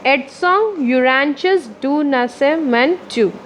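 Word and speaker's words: Edson Arantes do Nascimento: His name was Edson Arantes do, इसका है pronunciation एडसोंग यूरांचस डू नासेमेंटू, बट his friends called him पेले, लेकिन उसके friends पेले बताते हैं.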